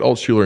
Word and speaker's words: Altschuler: I say it Altschuler and Company, but Altschuler and my Company. colleagues tend to call it Altco.